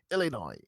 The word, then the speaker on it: Illinois: They said Midwest, make Midwest again, because as you know, Chicago, Illinois. Don't pronounce the S, please.